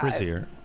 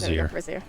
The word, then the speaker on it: brazier: I don't know how you say it. Brazier here um with fire and I'm just going to power game that. Brazier. No, you're right. It's Brazier.